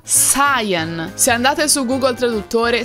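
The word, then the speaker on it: Cyan: pensano che si pronunci siano altre Channel in realtà in italiano sarebbe Ciano ma in inglese si pronuncia Sayan Se andate su Google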